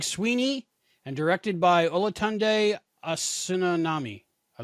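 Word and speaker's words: Osunsanmi: And Olatunde Asunsanmi. Yeah, I like that. Asunsanmi.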